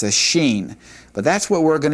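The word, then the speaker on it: שין: letter, then it's a sheen. But that's what we're going to be calling this letter, the sheen. More often than not, this letter will have an sh sound. Sheen.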